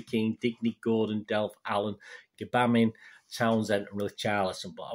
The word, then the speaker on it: Gbamin: Gbamin, that's how you pronounce it, rather than Gray.